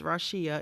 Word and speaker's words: Rasheea: Rasheea, an Overcomer's Testimony, and it's spelled RAW-SHE-UH, and I did that because people have such a hard time pronouncing my name. So it's Rasheea, an Overcomer's Testimony, which is available on Amazon.